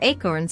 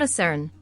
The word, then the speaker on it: acorn: winter when there were acorns on the ground. The most important rule was that if you pronounced acorn the correct way, and not acern, you lost a throw.